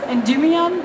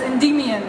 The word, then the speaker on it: Endymion: Früher hieß es Endymion und jetzt heißt es Endymion. Mhm. Und diese Betonung ist halt anders.